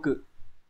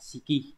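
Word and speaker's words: 色: phương án số 1 Mặc dù chữ sắc có hai cách đọc âm ôn là siki và cự nhưng mà trong từ Sắc Thái nó sẽ đọc là siki nhá các bạn sẽ chọn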